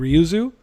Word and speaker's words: Ryuzo: way with this game with the Khan and Ryuzo, or how do you say it? Am I saying it right? Ryuzo.